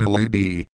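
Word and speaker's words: LADEE: the lunar atmosphere and dust environment Explorer or pronounced lady is taking a roundabout path to the Moon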